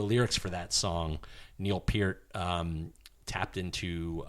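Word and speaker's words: Peart: for that song Neil Pier um tapped into uh per or Pier it's all right how do you spell it I said per too p e a r t huh all right yeah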